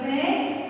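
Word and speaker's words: prey: This P-R-E-Y pray and P-R-A-Y pray. These two words are pronounced as the same, but the spelling and meaning are different.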